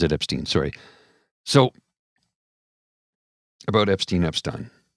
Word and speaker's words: Epstein: It's spelt Epstein, but often in the United States of America, in the Western culture, it's pronounced Epstein, much like Harvey Weinstein and not Harvey Weinstein. In Germany, you have Albert Einstein, not Albert Einstein, because it was German. So apparently it's Epstein in North America, Harvey Weinstein in North America.